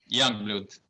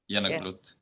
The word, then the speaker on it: Jongebloed: It's Jongebloed. Youngblood. Jongebloed. Youngblood.